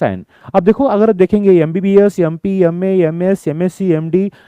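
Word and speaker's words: MBBS: लेकिन अगर आप देखेंगे एमबीबीएस एमबीबीएस का प्रोनाउंसिएशन म से नहीं होता। एमबीबीएस य अ साउंड से होता है। और अ क्या है? वोवेल है।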